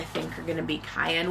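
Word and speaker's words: Kyan: And then the end papers in the back I think are going to be Cayenne, which is spelled like Ryan with a K instead of an R.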